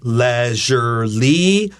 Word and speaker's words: leisurely: So we can say leisurely with a short E, like elephant.